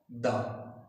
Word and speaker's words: the: THE ये जो definite article है, अगर ये एक ऐसे शब्द से पहले आता है जो कॉन्सोनेंट साउंड देता है, तब इसका प्रोनाउंसिएशन होगा, तब it will be pronounced द।